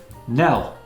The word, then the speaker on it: knell: Knell. Be careful of the silent K on this one.